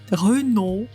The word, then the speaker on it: Renault: Буква «т» не произносится в конечном положении в именах собственных, которые оканчиваются на «ault», что произносится «о», и «oult», что произносится «у». Renault, Champossou.